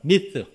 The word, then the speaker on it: myth: 우리말에는 허탄한 이야기로 번역했는데 영어 성경에 보면 myth, myth, 번데기 발음, myth. 쉽지 않아요.